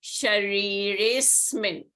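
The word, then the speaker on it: शरीरेऽस्मिन्: So for example, Sharire Asmin. So Sharire is R and A and A. So A is following A. So this A is replaced by this avgraha and is not pronounced. So it will be Shariresmin. You don't pronounce the A.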